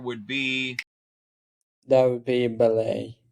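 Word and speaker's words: Méliès: Yeah, Oh yeah, Lumière, Melies, or Melies. S So is silent Lumière, in French, so it should be Malay or Malay.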